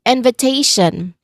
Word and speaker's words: invitation: Lastly, we have um um another word would would be invitation. Okay. Invitation. There's four syllables here. And the stressed syllable, it should be before the suffix.